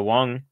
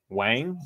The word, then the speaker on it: Wang: it I think Mo I think a lot of people do say Wang but it should be Wong and there it is